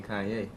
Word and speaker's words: Kanye: trying i'm sorry kanye oh i'm from ohio we say kenny that's how we pronounce it well i don't care where you're from you pronounce my name kanye oh okay let's go